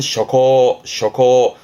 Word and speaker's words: 諸侯: 발음은 셔코, 음으로는 코 갑니다.